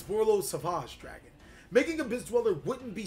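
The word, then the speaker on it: Borreload Savage Dragon: You gotta say it like that, ladies and gentlemen. It's Borlo Savage Dragon.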